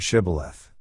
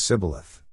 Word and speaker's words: Shibboleth: They ask suspected Ephraimites to pronounce the word Shibboleth. Since the Ephraimites' dialect did not include the sh sound, they would pronounce it as Sibboleth.